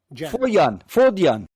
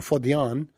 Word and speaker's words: fodjan: Fodjan. They're not... Germans don't do the J... Yeah, so there'd be yeah. So it'd be fodjan.